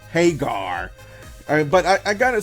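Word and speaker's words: Hager: And I say it like that because in this promo with Jericho, he really emphasized the pronunciation Hagar.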